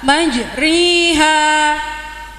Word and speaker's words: مجريها: وقال اركبوا فيها بسم الله مجريها ومرساها مجراها رنيا harus dibaca imalah majriha.